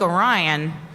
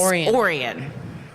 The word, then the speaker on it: Orion: to put phonetically the it's not like orion it's orion and we didn't know that